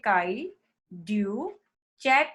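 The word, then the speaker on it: cri du chat: से, it's like काई, इसको प्रोनाउंस करोगे काई ड्यू चैट सिंड्रोम, ठीक है, क्राई ड्यू चैट सिंड्रोम।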